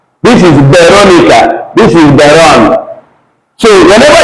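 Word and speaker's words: Verónica: I will also have Veronica. In English, you can say it's Veronica, but it's not Veronica. So the V is replaced with what? B. This is Veronica.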